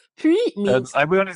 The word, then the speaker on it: puis: sure, not liaison, but just when we're pronouncing the word on its own, the S will be silent, if that makes sense. So it Okay. is puis on its own.